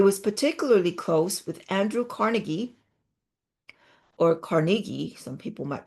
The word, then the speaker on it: Carnegie: He was particularly close with Andrew Carnegie, or Carnegie, some people might pronounce it as, and had become a trustee for the Carnegie Foundation.